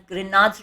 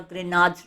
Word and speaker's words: Grignard: The G is silent over here, and we say it as Grignard's reagent, or you would also be hearing it as Grignard's reagent.